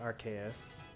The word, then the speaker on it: Arceus: you're trying to say Arceus that's the surprising pronunciation the Japanese is with this like arse like the Japanese is are you say